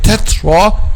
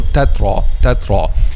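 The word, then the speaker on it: تترا: this by saying we can make two wrong pronunciations here. The first one is making an excessive air, tetra, and not making an air at all, tatra.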